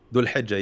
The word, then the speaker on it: Dhul Hijjah: There were strikes at the pronunciation. How do you say Dul Hilal? Dhul Hijjah, yeah.